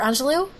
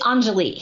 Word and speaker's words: Anjali: Is it Anjali or Angelou? It's Anjali. Anjali.